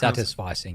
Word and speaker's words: satisficing: Yeah, did I pronounce satisficing.